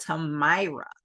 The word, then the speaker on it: Tamara: I ended up being called Tamira all of my life, but it's not spelled like that. It's spelled like Tamara.